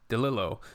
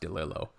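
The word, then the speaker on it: DeLillo: I've been reading uh the novels of Dom Dillo. I think it's pronounced Dilo.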